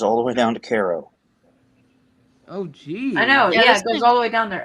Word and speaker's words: Cairo: down there isn't it Cairo no it's actually Cairo I guess that's just how it is in Illinois yep it's one of those things in Illinois where we were challenged at pronounce everything wrong typical Illinois it's kind of